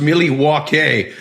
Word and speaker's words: Milwaukee: The only thing I know about Milwaukee is it was originally pronounced Milywake, which is along for the good land.